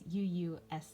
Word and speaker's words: Uusi: I believe the company is pronounced Usi. It's Uusi. So hopefully I'm pronouncing that correctly, but I am so stoked to get this.